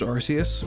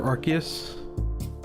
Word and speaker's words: Arceus: And that's why I think I'm really excited for Legends Arceus, or Arceus, however you want to pronounce it.